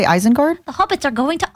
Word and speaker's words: Isengard: The hobbits are going to Isengard.